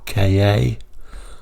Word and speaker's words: Ka: differently and I originally all the journalists used to call it the Ford car but maybe that just became too confusing some people call it the Ford KA I think Ford at